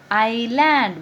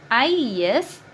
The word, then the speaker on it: island: Here is a island. What is this? Island. Spelling I-S-L-A-N-D. Island. I-S-L-A-N-D. Island. S is silent here. So you have to pronounce S as island.